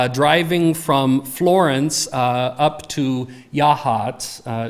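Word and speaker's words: Yachats: from Florence up to Yahat. It took me a while to learn how to pronounce that. It is not actually Yak Hats, which is what it looks like.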